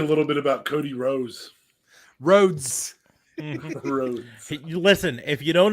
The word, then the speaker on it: Rhodes: little bit about cody rose rhodes listen if you don't know what he wrote is like a rose a beautiful bloomed flower